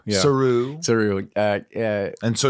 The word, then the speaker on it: Saru: Saru. Accent on the ooh. Yeah. Saru.